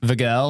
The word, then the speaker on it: Vigil: And then we have Vigil. Yep. Vigel. That's exactly how you pronounce it. Hill. Vigilante. The Vigilantes. How do you like The it said? Vigilante. It's V-Hill.